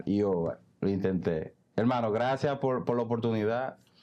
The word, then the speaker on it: Iovar: ¿Cómo que se pronuncia? Iobar.